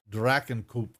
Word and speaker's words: Drachenkopf: is a volcano, Mount Drakenkopf. I hope I'm saying that. When did German pronunciation get into this? But apparently it did. Drakenkopf. Yeah, there you go. Drachenkopf.